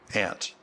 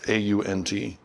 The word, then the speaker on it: aunt: Aunt. How do you pronounce that word? A-U-N-T. Aunt. Back in the States where I come from, we say aunt, but there are places in the States that say aunt.